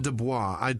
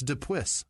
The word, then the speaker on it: Dupuis: There's no O. It's not Dubois. I tried so hard to pronounce. It's Dupuis or Dupuis.